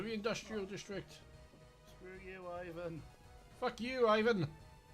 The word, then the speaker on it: Ivan: Screw you, Ivan. Fuck you, Ivan. It's pronounced Ivan. Fuck you, Ivan. Like Ivan the Terrible. Fuck you, Ivan. Or Ivan Drago.